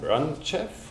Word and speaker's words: Racheff: root um Dr Mark root is the Ian ranf do I pronounce that correctly yes ah nice professor of